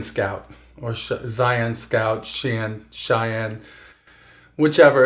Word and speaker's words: Xi'an: So one of those new ships was a Cheyenne Scout, or Zion Scout, Cheyenne, whichever. It's spelled Xian, and it's the Khartu.